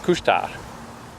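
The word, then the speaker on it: Couche-Tard: filthy anglophone mind talking in French it's fine kushar so we went there there and uh and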